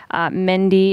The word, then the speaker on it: Mendi: and a half years again two syllables very simple we're playing on men's so athletes on the mend but making it our